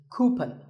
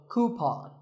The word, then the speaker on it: coupon: of these a coupon a common incorrect pronunciation is coupon but the second syllable should be pawn so coupon here's word number 16